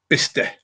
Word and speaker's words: Bicester: Bicester pronounced Bister.